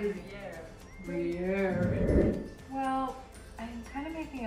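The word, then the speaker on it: Gruyère: Gerigeyer. No, how to pronounce it.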